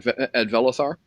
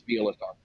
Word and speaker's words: Vielathar: Is there anything you need arranged at Velathar? Velathar is... Okay, sorry, I mispronounced. Michelle mispronounced. It's Vielathar.